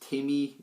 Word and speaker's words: Tim E. D: it's pronounced Timmy, D-T-I...